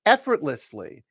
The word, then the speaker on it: effortlessly: bum bum bum bum four syllable word stresses on the first syllable effortlessly um because the word effort ends with a T but it goes into a voiced L we sort of put a stop on that team we don't pronounce it fully effortlessly effortless the lless